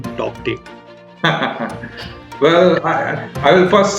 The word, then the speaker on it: Tauktae: The cyclone that formed recently in the Arabian Sea is called Cyclone Tauktae, and it's spelled Tauktae. The K is silent, and Tauktae, the name was given by Myanmar.